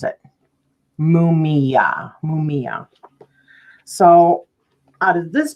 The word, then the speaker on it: Mumiah: And that's how you pronounce it. Mumiah.